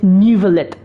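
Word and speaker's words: Neuvillette: my show okay so his pronunciation is nivelet ah Mr Lenny say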